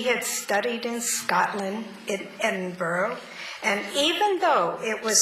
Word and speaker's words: Edinburgh: us that he had studied in Scotland in Edinboro and even though it was spelled e d i n bu u r g h it was to be pronounced Edinburgh so I introduced him to my husband as